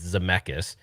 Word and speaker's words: Zemeckis: so speaking of that, so Bob Gale and Robert Zemeckis, I always get his name wrong. It's Zemeckis.